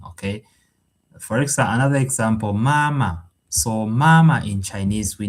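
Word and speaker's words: 妈妈: The first ma is the first tone, of course. And then the second syllable of ma has no uh tone above the vowel. It's just like this, the light and soft tone.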